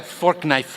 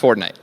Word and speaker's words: Fortnite: That's a fork knife reference. Did you say fork knife? It's actually pronounced Fortnite.